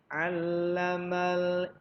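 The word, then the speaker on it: عَلَّمَ: Allamal insana malam ya'lam. Ini baru ain. Kalau tadi ikra hamzah. Ini ain. Ya'lam. Allama itu harus ditekan ainnya.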